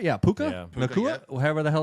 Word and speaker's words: Puka: Yeah, Puka.